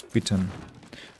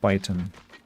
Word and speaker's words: Python: I learned that I had been pronouncing the the thing all wrong all the time. It's Pittton and not Python.